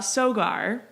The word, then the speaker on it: Sogar: guests of ours you what is your interpretation of how your last name is pronounced great one because i get a lot of them uh sogar you nailed it you know good it's